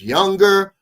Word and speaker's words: Junger: I want to say his last name is Younger, but it's spelled Junger.